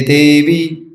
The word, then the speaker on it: देवी: विष्णु भक्ति प्रदे देवी, देवी को भी लंबा कर देते हैं, तो है देवी नहीं है, देवी छोटा।